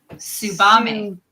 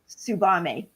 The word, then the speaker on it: Subame: So now Sarah says this one that she's talking about is actually pronounced Subame. Subame. Like tsunami. Like tsunami.